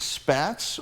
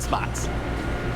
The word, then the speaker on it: Spatz: rest no is it spats or is it spots bread spats or spots but they buy the loaf of bread I don't care but no we pronounce it spots spots bread okay with the taste